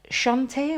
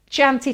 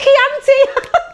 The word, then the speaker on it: Chianti: using in a moment, Shantae or Shantai, I don't know how you're saying that one, I'm not even going to try and say it, or Chianti, however you want to pronounce that. Chianti, thank you very much, Laura, there, she just gave me a little helping hand. Chianti. Then we've got Heritage Blue. Oh, Chianti, I'm still saying it wrong.